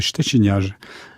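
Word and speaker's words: Szczeciniarz: Alors, à la polonaise, puisque c'est un nom polonais, donc ça se prononce comme C-H-T-C-H, c'est le ch. Donc ça fait Szczeciniage.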